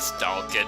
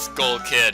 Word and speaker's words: Skull Kid: Not Stalkid, it's Skull Kid.